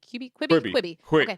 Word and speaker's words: Quibi: you pronounce it? Quibi.